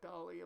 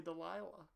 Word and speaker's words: Dahlia: and i couldn't even i didn't even read her name as dolly dahlia dear lord i can't even say it correctly because i just want to say delilah but nope yep for the meme it's delilah for the meme for the stream for us it's delilah stop right there what